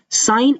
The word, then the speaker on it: sin: क्या कहा जाता है, साइन। एंड SIN नहीं, पूरी स्पेलिंग इसकी SIN ही होता है, लेकिन आपने यहाँ यूज करना है सिर्फ SIN। मैं लिखूंगा पूरा, लेकिन मैं पढ़ूंगा इसे सिर्फ SINE, चाहे आप E लिखें